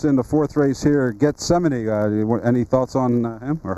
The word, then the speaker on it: Gethsemane: And Monday you have a horse in the 4th race here, Gethsemane. Any thoughts on him or her? Him. At least you pronounced his name right.